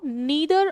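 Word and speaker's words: neither: नीदर ऑफ द students, जिसको नाइदर भी बोलते हैं सर, ये प्रेपोजिशन है, इसके बाद में ये ऑब्जेक्ट है। सब्जेक्ट आपका नीदर नाइदर दोनों प्रोनाउंसिएशन एक्सेप्टेबल है।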